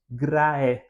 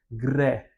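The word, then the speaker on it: Graecia: Nós não falamos graé, né, como na pronúncia reconstituída, mas nós juntamos o a com o e falando só o som do e, né, greia, né?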